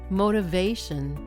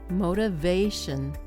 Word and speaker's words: motivation: Motivation. Motivation. Motivation. Did you notice something? Many longer English words place the stress near the end rather than the beginning of the word.